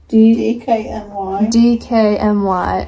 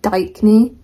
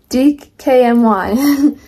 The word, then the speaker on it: DKNY: DKNY. I always called it Dykeny, and apparently that's not it. No, it's actually not a word.